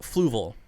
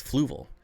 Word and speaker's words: Fluval: accent yeah who cares it's fluval every one of every person i've ever heard pronounce it except canadians it's fluval not fluval fluval i've never heard